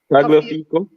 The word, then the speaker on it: Tagliafico: What was his name pronounced? Staffy. Tagliafico?